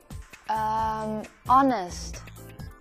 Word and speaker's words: honest: Honest. And the indefinite article and should be put before it because the H that starts the word is silent.